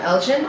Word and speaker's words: Elgin: Now, your album, Elgin, is that how you pronounce it?